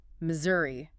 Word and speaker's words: Missouri: Missouri. What's the deal with the s? Generally the middle s is pronounced like a z sound.